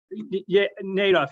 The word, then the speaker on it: Nadaf: him from a rabbi yitzhog nadaf and the pronunciation nadoff he was a rabbi